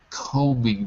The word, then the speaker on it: combing: I'm combing my hair, not combing.